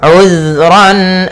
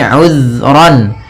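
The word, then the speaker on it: عُذْرًا: Kemudian ayat selanjutnya, uzran aw nuzra. Di sini uzran, hati-hati dalam pelafalan zal, usahakan di sini jangan sampai memantul, jangan uzra itu ya, tapi uzran.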